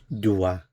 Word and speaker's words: doit: Il, elle, on doit. So he owes, she owes, or one owes. Doit. Notice the pronunciation is the same, doit, doit, doit, but the spelling is different here.